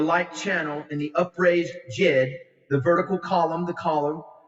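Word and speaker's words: djed: associated with The Jig that's spelled d-j-e-d the Jed is really the vertical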